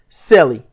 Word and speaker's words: CELE: a new project the project name is Cele pronounced celli it stands for Cloverfield